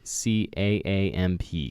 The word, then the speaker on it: Caamp: It is Caamp, spelled with one extra A, Caamp, Caamp.